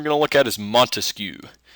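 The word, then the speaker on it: Montesquieu: to look at is monu I know his name can kind of seem hard to pronounce but it's pretty simple spelling it's a different story but think mosquito it's kind of the same thing so mon he wrote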